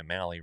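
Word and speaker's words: Mahle: Uh and then like we talked about our our guy Mali rhymes with rally.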